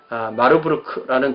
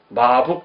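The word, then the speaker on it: Marburg: 근데 옛날에 이거를요 마북 그랬어요. 마북 그렇게 읽을 수도 있죠. 뭐 말부르크 마북. 좀 더 옛날 이 발음은 한자어에 좀 비슷하게 이렇게 가려고 하는 것 같아요. 그러니까 마북 그렇게 두 글자로 써놓죠.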